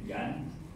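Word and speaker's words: 綖: 还有这个是读成这个盐啊，这个盐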